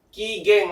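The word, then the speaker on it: 機嫌: Cara bacanya adalah kigen, ya.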